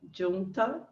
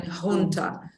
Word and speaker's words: junta: it in the Spanish they pronounce it with a Spanish sound the Argentine Junta it's it's a Spanish word is a group of